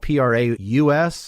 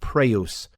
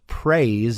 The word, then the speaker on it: praus: praise, but it's pronounced praus. Just as an aside, when you see a Greek word that has a Y in it, very often the Y is actually pronounced more like our U sound.